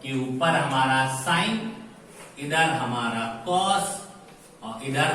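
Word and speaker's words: sine: ये होती है साइन, नॉट सिन। बहुत लोग इसको सिन प्रोनाउंस करते हैं, ये होती है साइन।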